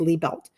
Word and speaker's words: Liebelt: i e looks like lie down and then belt that you wear around your pants but it's pronounced Lee belt so Lee belt